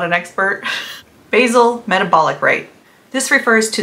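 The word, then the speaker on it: basal: why plateaus can happen wait is that basic or basil am I saying it wrong oh I said it wrong it's basil it's basil wait basil metabolic rate okay I'm not redoing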